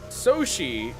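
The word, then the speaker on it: Sōshi: Soshi is uh the Japanese uh reading or pronunciation of his name.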